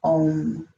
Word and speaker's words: Om: arch nut chakra misho mantra here is own and both the O and the M are long take a nice deep